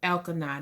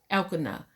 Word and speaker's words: Elkanah: soul anyway hannah um was married to el canada now it could be saying that rome um you know the word sometimes the names in the bible but it is spelt e-l-k-a so if i'm wrong then get it right elkanah she was married to